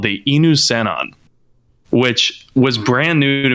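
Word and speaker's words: Inusannon: upon the ruins of a race called the enu cenon which was brand new to me like i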